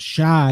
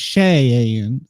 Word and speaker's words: Cheyenne: It's not Shy, it's Cheyenne.